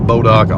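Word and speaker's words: Bois d'Arc: Arkansas called bodock Lake now if you see it on the map it looks like it's spelled boys the ark interesting little factoid here I know what this is inadvertently I've known about bodock all my life my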